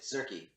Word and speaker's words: Tzerky: Do you pronounce the T in your name? Is it Zerky or Tzerky? It's kind of a mixture of the two. It's just Zerky.